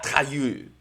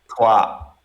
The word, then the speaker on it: Troyes: Trayeux. Trois, trois, Troyes.